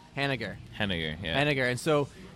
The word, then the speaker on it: Hennigar: Hennigar.